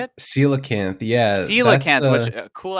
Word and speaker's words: coelacanth: Coelacanth, yeah, that's, Coelacanth, which cool ass word.